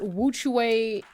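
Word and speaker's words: WUQUE: anyone is looking so these are Witch Way Studios um stabilizers which way is spelled w-u-q-u-e um so without further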